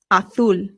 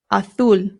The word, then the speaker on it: azul: The first one is azul. Azul. Azul. Remember that in Spain, the Z becomes a th sound, but it doesn't do that in Spanish in Latin America, so you can say azul or azul.